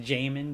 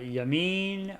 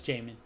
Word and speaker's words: Jamin: It's pronounced Jamin Davis. I found out. So I thought Yamin or Jamin, but no, it's Jamin.